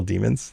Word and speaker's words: daemon: it's like, they're all demons. They're all basically the same. We actually, honestly, when I play Warhammer, we pronounce it demon. It's pronounced, it's spelled daemon. We just call it, it's a demon.